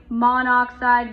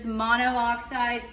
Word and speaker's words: monoxide: So this would be, we're going to say monoxide because monooxide sounds weird and it looks like monoxide, and that is incorrect pronunciation.